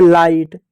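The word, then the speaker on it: light: जी एच टी को कुछ जगह पर हम ट पढ़ते हैं। जैसे लाइट जैसे नाइट जैसे राइट तो वहां पर देखो जी एच टी आता है।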